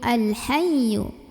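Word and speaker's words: الحي: huruf qamariyah yaitu H maka cara membunyikannya lemnya ini dibunyikan secara jelas quiet and Hayu Al Hayyu ya tasdid sebelumnya bukan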